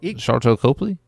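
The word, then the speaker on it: Sharlto Copley: you know how to say his name Char charl to Copley yeah was the guy who was in the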